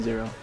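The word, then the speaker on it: ゼロ: Yeah, just plain old Zero. Zero pronounced in the Japanese way. Even though it's like an English word or number.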